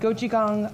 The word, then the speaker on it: gochujang: Okay, so today what we're going to be making is a spinach salad with carrot ginger miso dressing, a refreshing smoothie, and gochujang, I always stumble on that word, tomato tofu.